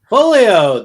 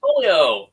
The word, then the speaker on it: Foglio: Foglio. The G is silent. Foglio.